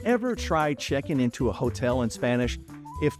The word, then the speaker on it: hotel: First of all, the hotel, it's easy. El hotel. Just remember it's masculine. El hotel. H is silent.